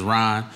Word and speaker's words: Rahn: My name is Rahn, but my first name is spelled different.